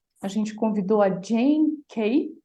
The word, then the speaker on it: Kay: A gente convidou a Jane Kay, é assim que pronuncia, Jane?